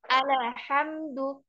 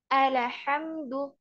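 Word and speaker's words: الْحَمْدُ: atas letakkan di situ jangan sampai kepantul jangan alhamdu alhamdu enggak boleh kepantul lam karena lam tidak termasuk huruf qalqala ya Enggak boleh alhamdu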